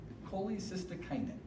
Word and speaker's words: cholecystokinin: say that first one this one's a mouthful cholecystokinin that's how you pronounce that I only tried to say collect